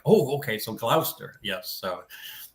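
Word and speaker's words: Gloucester: He'd like Duke of Glouster, but not Duke of Glchester.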